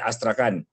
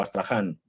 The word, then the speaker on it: Astrakhan: sentido, de Kasputin Yar, es Astrakhan o Astraján, según lo pronuncies.